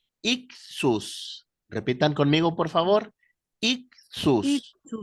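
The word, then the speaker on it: ἰχθύς: un pescadito en griego la palabra pez se pronuncia ius repitan conmigo por favor ius ixus significa pez Pero por qué el pez se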